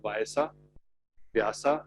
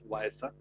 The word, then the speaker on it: Vyasa: There's a company that we invested in called Vyasa actually, but now since they have become big in US, they call it Vyasa. It's difficult for them to pronounce Vyasa.